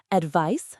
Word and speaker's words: advice: Advice noun with an s sound and advise verb with a z sound.